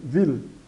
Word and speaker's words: will: W, soa pronunciado como V, will.